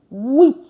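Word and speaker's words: huit: And then eight is with wit. So yeah the t is pronounced actually as well.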